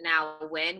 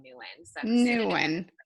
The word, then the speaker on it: Nguyen: it new n nuytten people pronounce it now win which is the proper way but I just grew up saying new a new one all right well let's